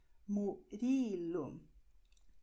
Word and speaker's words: Murilo: Okay, so you're going to say in Portuguese, Marcos, Mário, Murilo, André. Okay, this is how it works. Just like this. Okay, so tip of the tongue, quick and back.